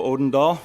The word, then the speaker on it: Odendall: my name is joe odendall with a d hard to go anywhere in this town and have it pronounced correctly there is a d in my name uh first of all